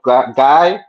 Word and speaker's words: Guay: and I'm here with my friendly guest guy yeah gay gay oh gay okay is it French your